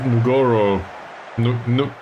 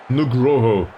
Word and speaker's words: Nugroho: Dulceban and Nugoro. I really need to pronounce this in the correct manner. Nugroho.